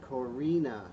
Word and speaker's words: Corina: that is wonderful and no one gets it right with that spelling pronounced Corina you know what I'm